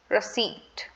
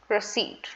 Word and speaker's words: receipt: of the word is receipt receipt remember the p in the word is completely silent we do not have to pronounce it this is called receipt